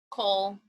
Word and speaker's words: Coel: Michaela Cole, is it pronounced Cole or Coel? Cole.